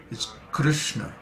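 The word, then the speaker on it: कृष्ण: Also, the correct pronunciation of Krishna's name is there's no Krishna, there's no I sound in Krishna. It's Krishna, Krishna, K-R-S-N-A, Krishna.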